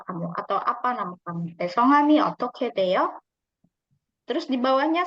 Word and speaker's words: 성함: Nah, i름 ini nama lainnya atau bahasa sopannya yaitu songam. Bacanya songam.